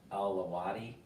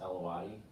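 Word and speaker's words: Alawite: And there's a offshoot of that religious conviction called Alawati. I think it's pronounced Alawati.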